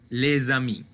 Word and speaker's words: les amis: Et n'oubliez pas que on va prononcer Z quand il y a cette liaison. Les amis.